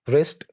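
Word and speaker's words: wrist: डब्ल्यू के बारे में एक रूल ये है कि डब्ल्यू इज not pronounced at the beginning of the word before are, यानी कोई ऐसे वर्ड जिसके स्टार्ट में डब्ल्यू आ जाए और डब्ल्यू आर से पहले हो, वहां पर उन वर्ड्स में डब्ल्यू को प्रोनाउंस नहीं किया जाता। बहुत कॉमन एग्जांपल्स हैं रिस्ट, रैप, राइट, रिंग और रैक।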